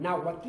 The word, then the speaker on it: náhuatl: Fíjense que esa composición TL del náhuatl es original, no existe en otro idioma, ¿no? Ninguna lengua tiene esa ¿no?